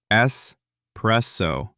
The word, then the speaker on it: espresso: Espresso. Not espresso. There is no X. No espresso. Espresso. That one makes baristas everywhere very sad when people get it wrong. Espresso.